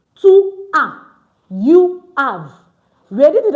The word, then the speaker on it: tu as: We don't pronounce our S. So it's not to us. It's to a.